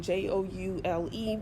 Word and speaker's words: joule: It's got a weird spelling, Joule, but it's pronounced joule, just like a gem, jewel, Jewel.